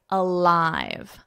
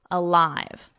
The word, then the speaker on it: alive: Lie, alive, alive. Read it out loud. I'd mastered it when I was five. So here, easy for you, right? We have five, which of course rhymes with alive.